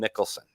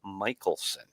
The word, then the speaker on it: Michaelson: on pronunciation and and I've been calling him Mickelson and and I want to apologize that it is Mark Michaelson and and I don't